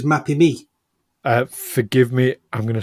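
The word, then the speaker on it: Mapimí: It's Mapimi. Mapimi. Mapimi. In Spanish, okay. the emphasis is always on that little accent, or on the penultimate syllable. Right. Okay. Mapimi.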